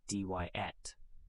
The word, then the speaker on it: Diet: It established an elected parliament called the Diet, pronounced Dyet, though real power remained concentrated in the hands of a small group of leaders.